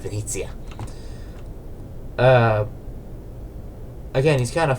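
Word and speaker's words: Venezia: It like he like has this suit and like he can do high stuff and he always gets mad when you pronounce Venice as Venice instead of Venitzia.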